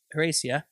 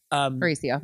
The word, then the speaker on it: Horacio: And then Olivia and Horacia, I think I said it right. Horacio. Horacio.